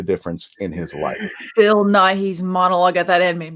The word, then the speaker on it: Nye: i think it's bill nye it's pronounced the same as you know is it naive or is it nigh like bill nye the science guy you know okay i